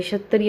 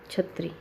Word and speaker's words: क्षत्रिय: जब हम जैसे क्षत्रिय होता है, अक्षर का क्या बना देते हैं? छ। अक्षत्रिय का छत्री, लोकल लैंग्वेज में ऐसे